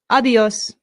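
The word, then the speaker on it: adiós: A good way to say goodbye in Spanish is a simple adios. Adios. Adios. Excellent. Adios. Notice the accent. This is where our stress is.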